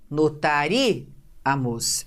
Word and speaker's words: notaríamos: Em notaríamos, a gente não tem aqui a última sílaba como a forte, não é? Porque não é o mos, não é o a, notaríamos. Essa separação, ó. Certo? Para cada sílaba uma vogal. Então, notaríamos, sílaba forte não é o mos, não é o a, é o ri.